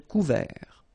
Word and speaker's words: couvert: Final T not pronounced. Un ciel couvert.